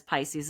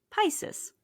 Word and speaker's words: Pisces: lymphatic system totally makes sense to me because Pisces is all about water and I always think